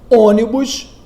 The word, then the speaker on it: ônibus: Ônibus, cuja sílaba tônica é o on.